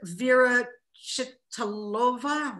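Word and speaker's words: Věra Chytilová: And also, even though I think Vera Chitalova, was that?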